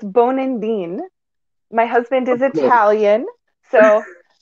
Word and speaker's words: Bonandin: So for the proper pronunciation, it's Bonandin.